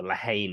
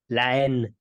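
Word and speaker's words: La Haine: Len or Lahane, as I like to call it. That's a Jew movie. I didn't know that's how you pronounce that. Len.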